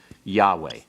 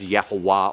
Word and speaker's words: Yahweh: with the real name, Yahweh. It has to do with this form. Your schwa here, and your holum here, and your comets here are for Adonai. Don't ever pronounce Yahweh as Yehovah or Jehovah.